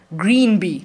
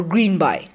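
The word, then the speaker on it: Greenby: young kid called george green b now if you want to pronounce it as green b or green by it doesn't make a big difference so the peculiarity about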